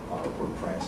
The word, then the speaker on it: Port-au-Prince: As a matter of fact, Port-au-Prince, the capital, Port-au-Prince, if I'm going to say it in the right French pronunciation.